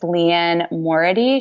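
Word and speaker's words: Liane Moriarty: I read both of, I don't know how to pronounce her name, but I think it's Leanne Morady.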